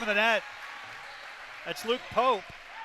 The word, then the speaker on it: Pope: I believe it's Pope. It's spelled P-O-P-E, but the public address announcer introduced him as Luke Pop, and I didn't know if that was just an error on his part or if there really